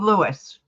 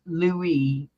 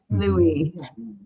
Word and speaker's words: Louis: you're right yeah King Lewis not Lewis Lewis Lou Lou yeah King Lou King Louise King Lou Louis Louie the S is silent Louie yes like camella's trying